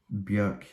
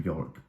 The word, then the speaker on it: Björk: Homogenic by Björk is how you say her name. Although everybody tends to call her Bjork because we're all very lazy with pronunciations, but she did correct